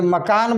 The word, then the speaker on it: मकान: लिखिए, न अल नल, तो ये मकान, मकान, आधा न है।